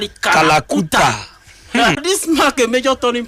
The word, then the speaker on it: Kalakuta: Named after the infamous dark hole of Calcutta, but pronounced Kalakuta.